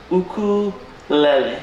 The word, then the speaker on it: ukulele: So, first things first, it's pronounced ukulele.